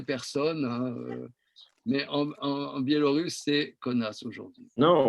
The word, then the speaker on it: Kaunas: mais un biélorusse et kaunas aujourd'hui non on peut prononcer kaona cpu c'est mieux comme ça qu'on dit je crois qu'à à huay nam